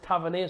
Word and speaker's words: Tavernier: And he says Tavernier, so everyone calls him Tavernier. So Tavernier is Tavernier.